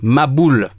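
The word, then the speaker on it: מבול: Le mot déluge, en hébreu, traduit par, se prononce comme suit, maboul.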